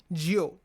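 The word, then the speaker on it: 九: nine in Chinese id9 is pronounced jio spelled j-i-u Geo which also means long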